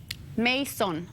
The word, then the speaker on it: Masohn: again it's a creepiness detector hey properly Mason Mason Mason very good right on yeah that's